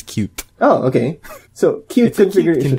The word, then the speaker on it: Qt: I think they encourage you to pronounce it as cute.